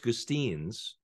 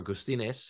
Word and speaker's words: Gustines: Actually, the guy who got me into the New York Times, his name is George Gustines, or Gustines, if you do the proper Latin American pronunciation.